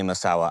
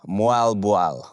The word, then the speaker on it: Moalboal: Fun, a lovely Moalboal. I really want to go back there. So, number one, my number one favorite thing I've done in the Philippines is I'd say Moalboal. People get mad. Moalboal, all right?